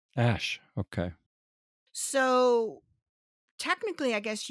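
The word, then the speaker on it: æ: Apparently the second character, the A-E, is a linguistic character and pronounced ash. Ash.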